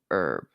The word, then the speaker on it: herb: him herbert we said if it's a name then you use the h if it's plant in the spice you call it an herb the h is silent you guys do it wrong